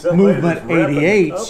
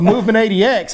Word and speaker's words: Movement 80X: anybody that has any Movement 88s, you know, so I wouldn't have been able to tell you that I caught those fish. Well, if you can start saying it right, it's the Movement 80X, maybe you'll get some.